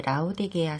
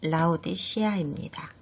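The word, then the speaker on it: Laodicea: 일곱 서신 중에서 마지막 서신이자 아시아의 라오디게아 성회에 보내신 서신을 공부하게 되실 건데요. 정확한 발음은 라오디 시아입니다.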